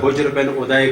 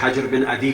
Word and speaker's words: حجر بن عدی: نہیں احترام کیا جناب حجر بن ادے کا، یا جو دوسرا تلفظ ہے حجر بن عدی کا؟